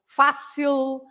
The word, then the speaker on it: fácil: So fácil has an accent on the first part of the word, but that means that you have to stress fa, right?